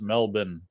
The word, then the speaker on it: Melbourne: I hear that it's pronounced Melbourne.